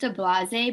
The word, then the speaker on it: Ablaze: Okay, so it's pronounced Ablase, but it's spelled Ablaze. Okay, so the name is, okay, perfect. Thanks for typing that in. Mm-hmm. So it's going to be called Ablase.